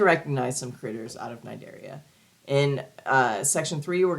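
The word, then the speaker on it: Cnidaria: going to talk about Nigeria the sea is silent um and you're going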